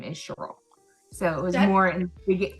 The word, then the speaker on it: Cheryl: they're from Illinois so the way they pronounce her name is the Sherl not Cheryl so when they moved